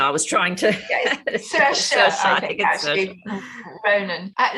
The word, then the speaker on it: Saoirse: It's something like Saoirse. I think it rhymes with inertia. I was trying to. Saoirse, I think actually.